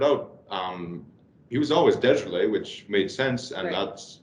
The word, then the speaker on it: DeJarlis: um they started out um he was always desolate which made sense and that's that is the correct pronunciation but um radio announcers couldn't pronounce desolate